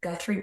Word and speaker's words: Guthrie: I can never pronounce it right. Guthrie Park.